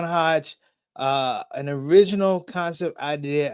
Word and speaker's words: Hajj: Was it Girls Gone Hodge? Sister, did I say that right? Did I say it right? Girls gone Hajj.